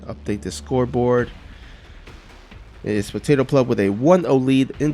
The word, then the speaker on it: PotatoPleb: You know, I sometimes switch between PotatoPleb and PotatoPleb. I gotta remember it's PotatoPleb. That's how he likes to pronounce it.